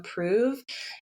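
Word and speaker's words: Preuv: So, if you want to follow um, Prove and it's P R E U V. Um, it rhymes with move, but it's spelled P R E U V.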